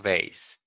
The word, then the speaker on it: beige: no sé describiendo acá pero se pronuncia beige listo qué más aquí